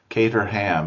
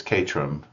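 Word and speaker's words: Caterham: C A T E R H A M. Kater ham is how Americans say it, but it's Katrum. if you know how the locals say it there.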